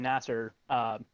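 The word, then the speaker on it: Nasr: Yeah, Felipe Is that how you pronounce Nasser. it? Felipe Nasser.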